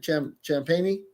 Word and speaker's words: Champagne: Champagne.